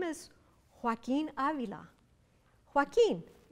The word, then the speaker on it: Joaquin: name is Joaquin Avila Joaquin rhymes with walking Joaquin is not that hard